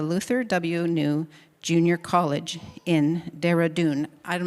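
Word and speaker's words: Dehradun: missions at the Luther Wu Junior College in Derdun. I'm not sure if I pronounced that right. Deredun.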